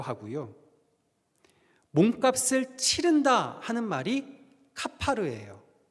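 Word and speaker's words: כָּפַר: 칠하라 하는 칠하다의 히브리어 발음은요, 카파르입니다. 그러니까 14절 말씀을 히브리어식으로 읽으면 이런 거예요. 너는 고페르 나무 방주에 코페르를 카파르하라.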